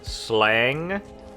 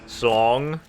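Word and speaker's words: slange: The A is supposed to be pronounced as an O, so it's slong.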